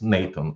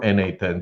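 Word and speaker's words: n8n: Most popular one probably is Nathan or NA10 depending on the way that you pronounce it right.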